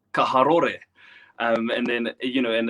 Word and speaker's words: Karori: gosh, I need to start pronouncing Porirua as Parirua or Karori as Kaharore.